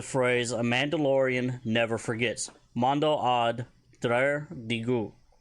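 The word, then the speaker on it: Mando'ad draar digu: Mando ad drar digu. Mando ad drar digu. And that is spelled M-A-N-D, beten, A-D, space, D-R-A-R, space, D-I-G-U.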